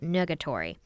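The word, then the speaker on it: nugatory: would be as troublesome as it would be negatory is that how you pronounce it yeah n-u-g-a-t-o-r-y i've never seen that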